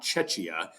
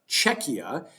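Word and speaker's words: Czechia: And it is, by the way, Czecha, uh, in case you have heard it pronounced other ways, it is Czecha, not Cchia. Czecha, uh, which is the name that the Czech Republic now goes by for international sports.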